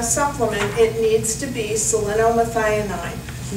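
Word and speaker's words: selenomethionine: you're taking a supplement it needs to be salinomethianine not sodium selenite not selenate but selena methionine spell that please oh i thought this was a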